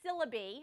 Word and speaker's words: syllabi: I have a department chair who says syllabi, and I've never heard it that way, but apparently it's the Greek pronunciation instead of the Latin.